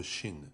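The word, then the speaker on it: ش: La lettre Shin n'existe pas en français. Elle correspond au CH du mot cheval.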